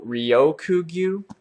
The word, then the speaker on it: Ryokugyu: We also hear mention of a new Admiral, and CCC said this is the way you pronounce it, Green Bull Ryokugyu.